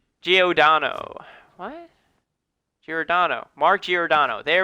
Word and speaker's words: Giordano: Giordano.